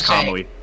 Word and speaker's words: Kamui: So, but it's Kamui.